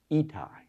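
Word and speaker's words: Ittai: He says, let me tell you how to pronounce this name today. It is Itai.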